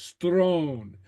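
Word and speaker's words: sròn: feminine yeah and then note how I pronounce this Strone and Sr is pronounced like an s stone stone okay all right so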